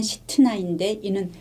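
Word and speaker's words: שִׂטְנָה: 이름은 신나 대적함이라고 붙였습니다 이 신라의 히브리 발음은 시트나인데이는 히브리어 사탄과 동일한 어원에서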